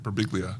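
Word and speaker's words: Birbiglia: Burbiglia.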